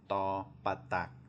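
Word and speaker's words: ฏ ปฏัก: Again, it's a hard do or a hard D, as was expressed before. You put your tongue in the back of your front teeth and make the D sound. It'll sound harder than a normal D.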